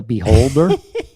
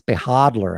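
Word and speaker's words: Behodler: video i call the beholder i do mispronounce most crypto and talk about it i'm just playing with you i was corrected by one cryptowizer who said it's behadler and then i looked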